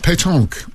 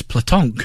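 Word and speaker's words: pétanque: that French sport oh Pon I I always thought it was platon no it's no l in it at all it's p uh e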